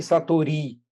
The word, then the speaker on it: satori: Satori é uma palavra japonesa. Então, todas as sílabas têm o mesmo peso. Não é nem satori, nem satori. Né? É satori. Isso é um pouco difícil para nós, porque estamos sempre habituados a acentuar algumas sílabas de uma palavra. Mas, na realidade, é como se fossem três sílabas todas iguais.